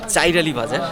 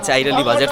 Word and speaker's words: চর আলী বাজার: লালিতাবাড়ি উপজেলার নয়াবিল ইউনিয়নের চর আলী বাজার যেটাকে বলা হয় কিন্তু আমাদের এখানকার মানুষ মানে আঞ্চলিক যে ভাষায় আমাদের যে মানে সহজভাবে আমরা যেটাকে উচ্চারণ করি সেটা হলো চাইর আলী বাজার তো সেই চাইরালি বাজার